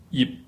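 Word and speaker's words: 葉: And you can hear again yip. In order to get this word out, you have to close your mouth to get the P sound, but you do not pronounce it.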